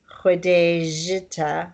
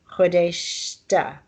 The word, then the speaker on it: Khodeshta: The important thing here is the pronunciation of j. You don't say Khodejita, you say Khodeshta.